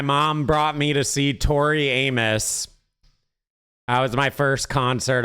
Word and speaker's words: Tori Amos: Tori Amos. Yeah, that's that's how you pronounce it. Tori Amos.